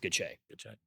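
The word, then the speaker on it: Gotsche: Uh, G O Ts C H E pronounced good.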